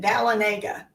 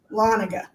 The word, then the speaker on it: Dahlonega: yes, I have a friend who moved here from California, and she called it Dahlonega. And I said, oh, no. It's Dahlonega. Lanaga, yes. Bless her Yes. heart, darling. Oh, Dahlonega.